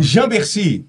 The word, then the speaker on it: Jamberci: Jambercy. Sim. É desse jeito que pronuncia?